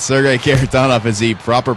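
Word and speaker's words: Sergei Kharitonov: I believe it's Sergei Karatanov is the proper pronunciation.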